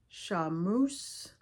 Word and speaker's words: charmeuse: Some of the suggested fabrics for this is your Challis crepe, double Georgette, crepe de chine, charmeuse is how you say it.